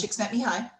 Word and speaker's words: Csikszentmihalyi: that it's based on, and I hope I pronounce his name right because he's one of my Mhm, favorite people, is Mikhail mhm. Csikszentmihalyi.